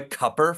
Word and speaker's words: Cooper: The Um, Democrats are I was gonna say, doesn't like, he doesn't he pronounce it Roy Cupper from what I hear?